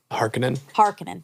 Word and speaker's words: Harkonnen: Harkonnen, thank you. Harkonnen bathing in oil is another unsettling aspect of the character and one that doesn't appear in the books.